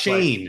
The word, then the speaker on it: Shane: It's just pronounced Shane. Like Shane. Yeah. Okay. So does anybody have Josh Norris's mock draft?